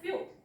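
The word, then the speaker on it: few: blue फ्यू आहे ना फ्यू मध्ये स्पेलिंग तुम्हाला दिसणार नाही परंतु ह्याचा उच्चार फ्यू यु सारखा उच्चार आहे ओके सो फ्यू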